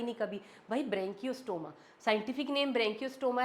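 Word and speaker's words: Branchiostoma: उसके बाद लास्ट आ जाता है हमारे पास एग्जांपल और एग्जांपल है यहां पे एक ही वो है ब्रेंकियो स्टोमा। ब्रेंकियो स्टोमा। बोलो इसको ब्रेंकियो स्टोमा। आपको प्रोनाउंस भी करना आना चाहिए कि ब्रेंकियोस्टोमा है यह।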